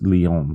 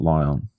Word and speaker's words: Lyon: It's Lyon, not Lyon. Okay. because that's French. You gotta have that weird accent thing going, you know.